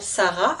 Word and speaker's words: Sarah: se prononcent pas donc le prénom Sarah à la fin peut s'écrire avec un H et le h M on n'entend pas la lettre H mis pareil le s